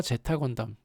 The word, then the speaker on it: Z 건담: 네, 표기할 때는 알파벳 Z로 표기하는데, 이게 읽을 때는 제타 건담이라고 읽어야 됩니다. 그러니까 뭐 알파, 베타, 감마 그런 거 있잖아요. 근데 그거기 때문에 이게 영어 알파벳 Z로 읽으면 안 되고 제타로 읽어야 돼요.